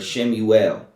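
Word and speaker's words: Shmuel: samuel chapter eight for shimmy well it's how you say it in hebrew shame you well right for the top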